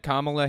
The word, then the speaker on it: Kamala: get their like their line of logic can't Kamala Harris that's how her name is pronounced by the by Kamala can't Kamala Harris